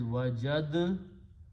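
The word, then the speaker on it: وجدت: So Qari says, because these two are very close to each other, he does not recite dal, but he recites ta twice. So now the sound is wajadtu, not wajadtu anymore.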